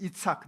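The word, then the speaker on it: יצחק: 발음 은 ' 이츠학 ' 인데 , 웃음 이라는 뜻이에요 .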